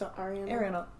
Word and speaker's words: Ariana: And, like, everything she said was so very, like, that's the only part of Ariana that I can see in it. Okay. Is that Ariana? Is it? No, it's Ariana.